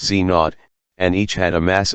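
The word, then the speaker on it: Z⁰: These were called W plus pronounced W plus W pronounced W minus Enzo pronounced Znot and each had a mass of around 100 GEV.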